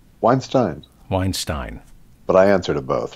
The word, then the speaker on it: Weinstein: I did, in fact, when I added the Elvis, when I joined the Writers Guild, I considered Einstein Weinstein as a pronunciation guide to my last name.